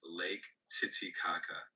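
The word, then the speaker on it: Lake Titicaca: That one's pronounced Lake Titikaka.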